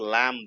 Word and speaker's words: lamb: pronounce it as a lamb right it should not be pronounced as a lamp it should be pronounced as lamb same is the case